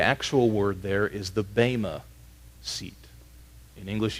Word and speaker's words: bema: In its original language, first century Greek, the actual word there is the bema seat. In English, you'd spell it B-E-M-A. Bema seat.